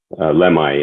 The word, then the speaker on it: Lemhi: How did you pronounce it? Lemhi or Lemhi? Lemhi, yeah.